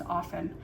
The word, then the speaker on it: often: But she said the proper way to say the word often is without saying the T is often.